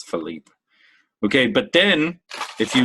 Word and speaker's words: Philippe: I don't think you pronounce the E at the end in Felipe. I think it's Philippe.